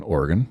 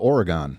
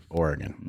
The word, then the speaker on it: Oregon: Uh, you uh you grew up in Oregon. Yes. And some people call it Oregon. Some people do. And they're wrong. That's incorrect. Wrong. That is incorrect.